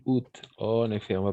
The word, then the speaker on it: août: Le 6 août, en effet, on va prononcer août, tout simplement, le 6 août.